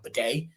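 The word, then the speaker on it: Badie: In terms of the other backs, Tyler Beatty's been the next one. Beatty, I don't even know. Bidet, I think, is actually how he asked for people to pronounce it.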